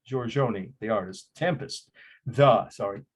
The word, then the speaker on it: Giorgione: I know that's correct because I have friends from Italy pronounce it. Giorgione, the artist.